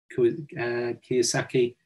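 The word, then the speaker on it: Kiyosaki: trouble um it would be rich the Robert Kaki that's the correct pronunciation books and I I think it's um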